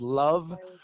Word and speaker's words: LOVB: And one of them happens to be here in Salt Lake City, and they're called LOVE. It's League One Volleyball. Their acronym is LOVB, but it's pronounced Love Volleyball.